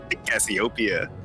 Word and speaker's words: Cassiopeia: You're wiping the accent on the P, bro. Cassiopeia? Do you want to say that instead? I think the accent's on the O. Cassiopeia.